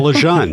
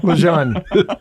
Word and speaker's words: LeJeune: Well, my name is Lejun. Leon.